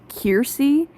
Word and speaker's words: Kersey: And so there's characters like Kersey and Perez, they are pronounced Kiersey and Piers, and that just really annoys me because that's not how I pronounce them.